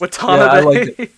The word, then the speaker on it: Watanabe: watanabe no with the cowboy accent it's just watanabe what's up i feel